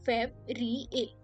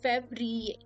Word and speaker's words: Février: How do we pronounce it? Janvier. Then Février. Février.